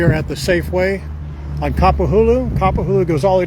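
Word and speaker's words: Kapahulu: So, this is Capahulu. I've often pronounced it I've often often pronounced it capahulu, which is frowned upon, but it's capahulu.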